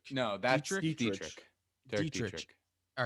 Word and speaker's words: Dietrich: Derek Dietrich.